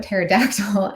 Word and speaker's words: pterodactyl: wrote Panda um but one person put pterodactyl and so we were like all applauding her like oh the silent P like that's amazing Super